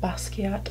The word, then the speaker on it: Basquiat: It's the Urban Decay Jean-Michel Basquiat, I believe is how you say it, palette.